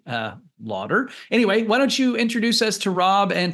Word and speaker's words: Laughter: AI tools like decipher it's not spelled exactly as you might expect it to be uh Lauder anyway why don't you